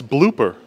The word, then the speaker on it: blooper: said like booper it's a booper cut no it's blooper yeah I know but you